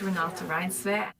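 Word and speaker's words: Renate Reinsve: Hello, my name is Renato Ryan. Renate Ryanve.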